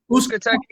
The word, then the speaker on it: Uzcategui: How you pronounce his last name? Uzcategui.